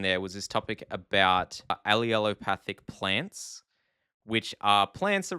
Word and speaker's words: allelopathic: whole video I was pronouncing wrong apparently it's allelopathic but I was pronouncing it alop which is apparently different and oh boy one